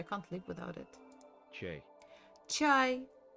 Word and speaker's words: чай: Chai. Chai.